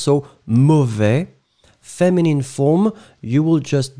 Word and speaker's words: mauvais: So the opposite is mauvais, the masculine form, and the feminine form, mauvaise. Okay, so masculine final S not pronounced, so mauvais.